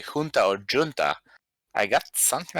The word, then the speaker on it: junta: say junta like the strong J, and I don't know